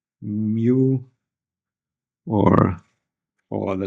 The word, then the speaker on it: mu: And this integral gives you the value of the current times some constant which is here written as mu0 or mu n.